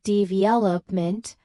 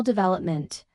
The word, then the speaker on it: development: And English learners often say dvopment with equal stress on all syllables. When native speakers use a clear pattern dash v-op n with primary stress on the second syllable.